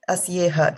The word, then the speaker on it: अस्येह: So Asyeha, just remember to pronounce the ha also.